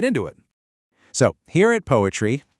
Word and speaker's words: PoAItry: So here at PoAItry, and yep, we pronounce that poetry, we do things a little differently.